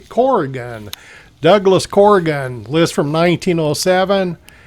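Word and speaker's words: Corrigan: I've been pronouncing it Carrian, but it's actually Corgan.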